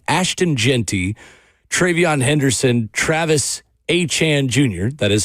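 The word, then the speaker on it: Etienne: And then also receiving votes was DeAndre Swift, Javonte Williams, Chase Brown, Ashton Genty, Travion Henderson, Travis Achan Jr., that is how we say his name now, and Alvin Kamara.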